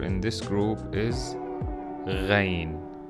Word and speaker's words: غ: in this group is rain for sure so it it looks the same like I'm but with one dot above and the way we pronounce this letter is close to the French r like in the old